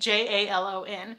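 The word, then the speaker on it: Jalón: You see, there seem to be two different spellings of this town, X-A-L-O and J-A-L-O-N. Either way, you would pronounce this Jalon.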